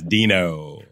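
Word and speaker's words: Deno: fresh the one that was Dino I'm saying it right right yeah yes Dino I'm I'm just looking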